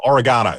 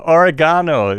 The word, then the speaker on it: oregano: No, oregano. Sorry. Oh, oregano. You say it. Okay, oregano. Put the emphasis on the different syllables.